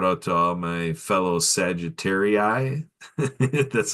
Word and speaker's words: Sagittarii: I want to give a big shout out to all my fellow Sagittarii.